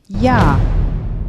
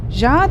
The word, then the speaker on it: ja: buna bir örnek verelim Örneğin Evet sözcüğü ya Ja diye mi okuyorum Hayır ya sonraki harfimiz k